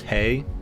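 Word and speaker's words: hej: I'm pretty sure it's pronounced hey. The J is always pronounced like like a Y.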